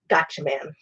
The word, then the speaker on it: Gatchaman: one that I saw was science ninja team gotcha man otherwise known as g-force otherwise known as battle of the planets here in the United States it is felt very weird but it is pronounced gotcha man so anyhow super 17 document whatever fellow planets